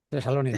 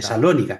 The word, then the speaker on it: Tesalónica: Tesalónica. Tesalónica, Ah, Tesalónica, porque el acento ah, es sobre O.